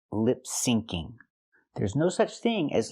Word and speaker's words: lip syncing: She means to say lip syncing. There's no such thing as lip singing. The phrase is lip syncing with the C sound sync.